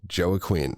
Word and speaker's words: Joaquin: Yeah, Joaquin. I think it's pronounced Joaquin, actually.